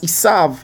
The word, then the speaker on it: Esav: It says, which is pronounced as Esav in modern Hebrew.